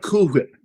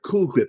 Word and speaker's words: Cool Whip: It's sort of like cool whip. Cool whip. It's the same thing with me. It's like it's like it's not cool whip. It's cool whip.